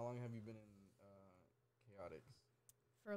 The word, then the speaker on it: KOTX: It's not pronounced Kotex, it's Chaotix.